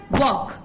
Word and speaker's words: walk: For example वॉक, WALK, वॉक।